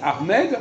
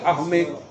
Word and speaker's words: Ahmed: Même si les Arabes disent Ahmed, nous on doit dire armée. Voilà.